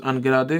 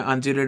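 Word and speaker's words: ungerade: यू इज़ अनगिरा दे। जी गिरा दे। ठीक है? कई लोग इसे जीरेड या अनजीरेड बोलते हैं। पर actual pronunciation is अनगिरा दे एंड गिरा दे।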